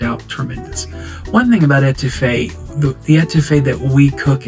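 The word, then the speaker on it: étouffée: That is pronounced etouffee. Short E, number 2, and the woman's name Faye. Ettouffee.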